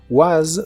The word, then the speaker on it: was: tú eres inteligente en el pasado es was o was termina con el sonido vibrante de la s was y were se pronuncia